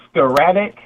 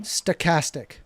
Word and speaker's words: stochastic: Is it sar I almost say sarcastic scoratic terrorism. Stochastic. Stochastic. Stocastic.